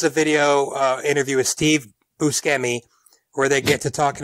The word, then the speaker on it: Buscemi: pronounce his name again he gets introduced as Buscemi but when the topic gets brought up Buscemi admits that while that pronunciation is correct so is Buscemi so both are changeable